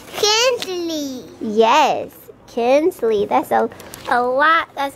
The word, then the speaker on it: Kinsley: saying her name a lot better she'll say Kenley like we've been practicing Kenley what's your name Kenley yes Kinsley that's a a lot that's a lot better